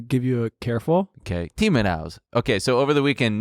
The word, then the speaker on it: Timiraos: Nick Timiraos? You got it. It looks Greek. You know. Take it easy. Timiraos. Take it easy. Is it like Timiraos? I'm going to give you a careful. Okay, Timiraos.